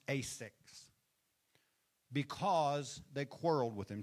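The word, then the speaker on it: Esek: So he called the name of the well, it's pronounced Asix, because they quarreled with him.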